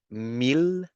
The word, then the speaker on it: mille: But then there are 3 exceptions where you need to go back to the L sound, which is mille, ville, and, well, actually